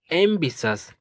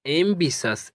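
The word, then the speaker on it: ambitious: ए एम बी आई तो ए एम बी आई इसको पढ़ते हैं एमबी। क्या पढ़ते हैं? एम बी और टी आई ओ यू एस इसे पढ़ते हैं सस। तो ये हो गया एम्बिसस। क्या हो गया? एम्बिसस। एम्बिसस मींस होता है।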